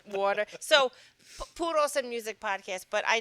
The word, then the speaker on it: Puros: We're going to start with Puros Music Podcast, right? Am I saying it right? Puro? People say puro. I think it's like, I say Puros and Music Podcast because I think the inflection